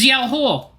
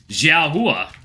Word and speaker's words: Xiao Hua: It's Xiao Huo! Xiao Huo? I'm not sure how to pronounce that. Hua. Xiao Hua.